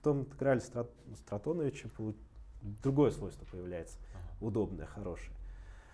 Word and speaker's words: Стратонович: Есть другой, кстати, способ построения стохастический интеграл Стратоновича, он для физических приложений применяется. Я, честно говоря, не знаю. Это кто-то наш, да? Да, наш. Да. С таким ударением Стратонович.